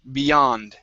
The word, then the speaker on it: beyond: Beyond okay right here instead of joh okay give me a good y Beyond okay Beyond there you